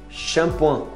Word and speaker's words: shampoing: Shampoo, em francês, shampoing, shampoing, não pronuncia nem, não pronuncia o G não, shampoing.